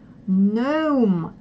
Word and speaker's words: gnome: Так, следующее правило, где не читается первая буква, не читается, когда GN, Н, первый звук. То есть KN и GN также себя ведет. Gnome, но, нет, нал, ну.